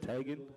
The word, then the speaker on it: Tegan: Tegan Tornbeck, is that how you pronounce that? Tegan?